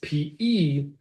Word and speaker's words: Pesante: But in the Encyclopedia Judaica, it's P-E-S-A-N-T-E. Pesante. He was, as you could guess, Italian. Moshe ben Chaim ben Shem Tov. Pesante.